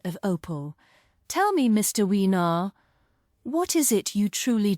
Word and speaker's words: Wiener: Weiner? No, not Weiner. It's pronounced Wiener. Like Oscar Mayer? No, my name is Wiener.